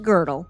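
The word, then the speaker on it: Gödel: Girdle spelled G O D E L pronounced Girdle. Girdle, for example, proposed a model of the universe that rotated, creating a structure where time could loop back endlessly.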